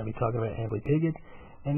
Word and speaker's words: Amblypygi: The name Amblypygi comes from Greek, not Latin, and that's why I pronounce the G hard. A lot of people say Amblypygi and things like that. I say Amblypygi.